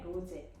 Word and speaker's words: rosé: 그래서 프랑스어에서는 그냥 이는 일반적으로 으 발음이 나는데 네. 지금처럼 위에 어포스트로피가 붙으면 네. 에 발음이 나게 되거든요. 그래서 로제라고 발음을 하게 되는 거죠.